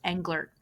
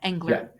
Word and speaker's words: Engler: Your last name is pronounced Angler with a T on the end. Yeah. Angler.